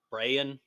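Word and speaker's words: Brayan: I have to say this right because it's spelled really weird. B R A Y. Brienne Bellow. Brian.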